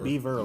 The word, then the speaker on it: Beaver: Beaver, like the animal.